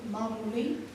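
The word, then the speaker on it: მამული: And fatherland, the upper three words, it's in Georgian, pronounced as mamuli.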